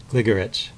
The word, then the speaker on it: Gligoric: to say gorit or gligorich you know hitting the first syllable or the second syllable but really it's uh there's an even stress on all the syllables so it's a gligorich just uh one two